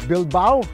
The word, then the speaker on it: Bilbao: Bilbao rhymes with wow.